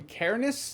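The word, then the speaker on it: Cairnes: directed by Cameron and Colin Caris I believe is how you say the last name pronunciation police proceed it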